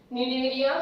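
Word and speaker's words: Cnidaria: दोनों के अंदर, सिलेंड्रेटा का दूसरा नाम निडेरिया, दोनों के अंदर सी साइलेंट है, टीनोफोरा सी साइलेंट, निडेरिया सी साइलेंट, ओके।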